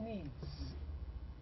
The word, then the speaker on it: needs: so I say he needs though I write S but the S is pronounced as Z because it is preceded